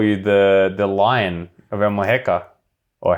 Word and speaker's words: Almuñécar: I heard someone call you the Lion of Almuñécar, or how I pronounce that terribly. Almuñécar, yeah. Almuñécar.